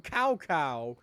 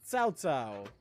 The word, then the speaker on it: Cao Cao: to be correct, but I'm still stuck on Cao Cao, which is what I've always called him, but that's not his name and not how it's pronounced. It's Cao Cao. Cao Cao.